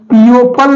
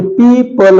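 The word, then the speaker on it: people: एग्जांपल देखते हैं कि पी ई ओ पी एल ई पीओ पल नहीं है ई के बाद ओ आया मींस दोनों कॉमिनेशन में आए हैं तो यहां पर ओ साइलेंट होके पीपल हो गया पीओ पल नहीं है पीओ पल नहीं है यहां पर पीपल है पीपल मतलब लोग ओके अगला है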